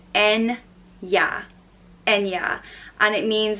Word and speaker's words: Enya: name is Enya and it's pronounced n yeah and yeah and it